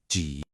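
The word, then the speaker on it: 几: Notice it also has that dipping third tone, G.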